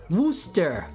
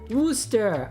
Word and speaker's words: Worcester: lot of drum stuff wooster wooster yeah i said that super good worcester sauce worcester sauce